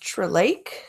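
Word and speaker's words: Tlaib: I think her name is pronounced Trelake.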